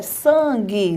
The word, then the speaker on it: sangue: desta forma Tá bom então é sangue não põe o i sangue esse an aí